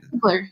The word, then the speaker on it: Ziegler: And does she pronounce her last name Ziegler, or how does she? Ziegler, yeah.